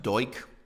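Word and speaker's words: Duch: His name is pronounced Doik.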